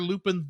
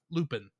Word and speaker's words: Lupin: So that's why they always have to call him, pronounce his name in the Japanese way of Lupin instead of Lupin, as is a little easier to see.